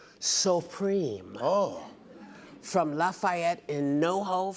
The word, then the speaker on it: Suprême: It's pronounced Supreme.